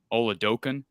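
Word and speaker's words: Oladokun: about uh you know am i pronouncing it correctly when i say olodokan yes so talk about ole dokin and uh his future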